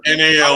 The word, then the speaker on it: Nall: Also, there's no silent K at the front of Ryan Null's name. It's just NALL.